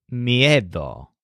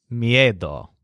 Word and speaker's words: miedo: looks at them and his word for fear is MIA doll so the stress sounds kind of like head with a silent H me a doll finally let's come to